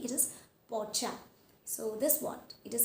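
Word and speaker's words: Porsche: It is Pocha. It is not Poch or Pochi. It is Pocha.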